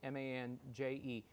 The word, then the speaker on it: Mange: Justice Lotade Mange. I'll spell it for you. Justice is Justus, and then it's hyphenated Lotade, Lotade dash Mange is Manje.